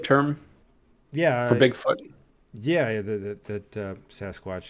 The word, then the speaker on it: Sasquatch: yeah yeah that uh Sasquatch is like a mispronunciation or a European mispronunciation of a native term like I think it's called sasquette Sasquatch oh yeah so it's like s-a-s-q-e-t something like that so it's like Sasquatch yeah best watch says